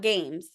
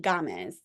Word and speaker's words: Gamez: I think she pronounces Gamez. It's not games. I think Gamez.